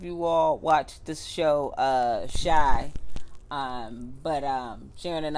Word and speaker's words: Chi: And one thing too is, I don't know if you all watched this show, Shy, but Sharyn and I.